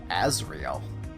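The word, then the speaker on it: Asriel: Azrael. Okay. In Christian mythology, I know that Azrael is like an angel of destruction or something, but that's spelled differently. Not pronounced differently, but...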